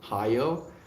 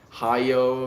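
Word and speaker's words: Hayao: engine I love you how do you say that name h a y-a-o Hi how are you higher higher mizaki's work and his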